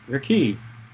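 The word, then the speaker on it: רקיע: the firmament the hebrew word for this is pronounced your key biblical scholars understand their key to be a solid dome-like structure it separates the water into two parts so that there is water above the rickey and water below it the waters above are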